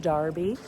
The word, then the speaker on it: Derby: So, we are in the town of Derby, which is spelled Derby if you're an American. So, it's definitely Derby to us, but Darby to the Brits.